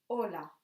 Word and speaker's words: hola: pretty pretty special because it's a letter that you will see written very often but we don't pronounce it for example hola ha ha Archie we don't pronounce it hola then we have to